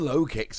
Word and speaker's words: Lokix: be honest with you I wasn't 100 sure was going to be the pronunciation but I've done some check-in and low kicks it is so the question then